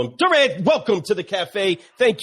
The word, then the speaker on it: Durran: Durran, welcome to the cafe. Thank you so much. Am I pronouncing your name correctly? Yes, sir. Like Durran. That's right. Durran.